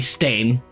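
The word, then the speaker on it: Steinn: uh with two ends which Stein actually an Old Norse um or sorry stain um it would be yeah would be how it's pronounced um staying basically translates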